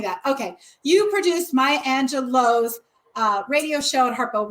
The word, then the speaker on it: Angelou: director who produced maya angelou's um is it new or low i always say it wrong it doesn't work it's in high and low high low you told me that okay you produced